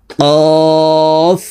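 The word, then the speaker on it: كاف: কাফ হরফের উচ্চারণ জিহ্বার গোড়া থেকে একটু আগে বাড়াইয়া তার বরাবর উপরের তালুর সঙ্গে লাগাইয়া উচ্চারণ করে পড়তে হবে।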